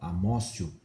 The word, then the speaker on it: amotio: Se escreve amotio, mas se fala amócio, tá?